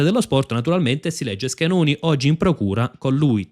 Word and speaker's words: Schenone: Naturalmente si legge Schenoni oggi in procura con lui Tommasi che è